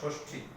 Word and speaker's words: ষষ্ঠী: যেমন ষষ্ঠ শব্দটিতে দুটি মধ্যস্ব আসে, বা ষষ্ঠী শব্দটিতে দুটি মধ্যস্ব আসে, তখন উচ্চারণ হবে ষষ্ঠী। দুটো মধ্যস্ব আছে, দুটারই উচ্চারণ তালব্য শ আসছে।